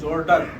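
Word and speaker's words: Jordac: जाके सर्च करें एक नाम जॉर्ज जॉर्डक जॉर्ज जॉर्डक सही है जॉर्जक की स्पेलिंग है जे ओ आर टी ए सी ये शख्स कौन है?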